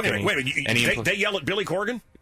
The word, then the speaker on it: Corgan: right what's that Corgan it's Corgan you should actually probably should be Coran but we say so do you wear